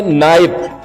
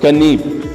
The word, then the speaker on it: knife: ठीक है, जो कि पहले जमाने में नाइफ, KNIFE, इसको कनीब पढ़ा जाता था. क्या पढ़ा जाता था? कनीब. सो अगर ये इंग्लिश में लाया गया इस वर्ड को, अगर के हटाया जाए तो फिर इसका मकसद वाज़ेह नहीं हो जाएगा. ठीक है, इसलिए इसको के यहां पे साइलेंट किया जाता है.